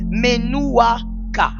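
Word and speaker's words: menuwchah: à cause du péché, c'est le repos appelé Menouaka. Menouaka, c'est le repos que l'on subit aujourd'hui à cause du péché. Ça s'écrit M E N U W C H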